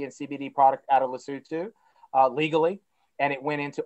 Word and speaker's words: Lesotho: It's based in Lesotho, but it's pronounced Lesotho.